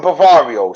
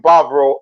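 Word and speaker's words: Bávaro: You see, my lady lives in Bavario, so obviously I split my time between Bavario and Bavaro. See, there I go with the American pronunciations again. There you go. See, I split my time between Bavaro and Puerto Plata.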